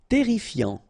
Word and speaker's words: terrifiant: Terrifiant, final T not pronounced, double R here, so it will open the pronunciation of your E, and then it will be E, terrifiant.